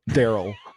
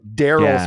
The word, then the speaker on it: Derol: It's spelled DEROL. Daryl.